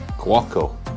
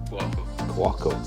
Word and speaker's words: Cuoco: So it's time to start boiling up this Cuoco is how it's said. Cuoco.